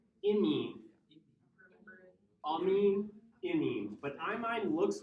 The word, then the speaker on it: amine: It's pronounced amine.